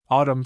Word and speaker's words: autumn: Though Wednesday we have a number of words ending in mn in which the n is silent. Note the spelling of the following words. Autumn solemn column kil him condemn.